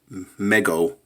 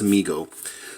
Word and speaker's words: Mego: me in the comments I was saying Meg oh and he said no no their problem they're pronounced amigo so I wasn't too